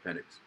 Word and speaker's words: Penix: year behind Gino while it's not even pronounced penix is literally penix no it's penic penic I was I was